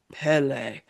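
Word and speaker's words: Pelé: And I looked that up with from a man with a very deep voice on YouTube who said Pele.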